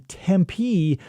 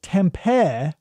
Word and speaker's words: Tempe: video where there was a murder in Tempe but was repeatedly pronounced tempeh by the narrator and I go okay